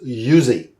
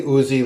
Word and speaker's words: Uzi: we have an uzi proper pronunciation actually is yuzi but i say uzi like all the rest of the americans or uzi but it's